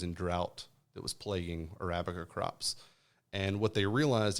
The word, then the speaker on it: Arabica: the Robusta and the how do you say Amica uh Arabica Arabica is the reason the the Arabica is